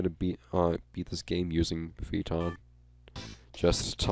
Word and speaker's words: Phaeton: Poor Phaeton. I think that's how it's pronounced. Phaeton. I generally consider AE to be a long E sound, because it's a digraph in some cases, but this poor car.